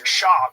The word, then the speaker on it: Schaub: Where's Brendan Schwab from? It's Schaub. You have to say his name right.